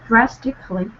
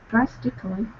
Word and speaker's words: drastically: this uh like uh drastically drastically drastically not drastically drastically specifically yeah we we Dro this syllable here we just we just plain don't pronounce this okay we just drop it it's basically omitted specific C of uh